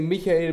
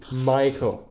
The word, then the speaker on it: Michael: Before we get into that, I say Michael because he's a German author. You weird British and American people, and also Australian and other people, would say Michael. But it's spelled Michael. He said it as Michael, so I'm gonna say Michael.